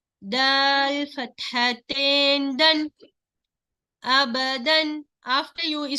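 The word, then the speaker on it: أبدًا: Hamza fatha, ba fatha ba, aba, dal kasratain, sorry, dal fathatain, dan, abadan.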